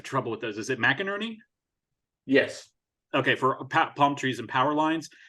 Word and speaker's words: McInerney: I always have trouble with those is it mcinerney yes okay for palm trees and power lines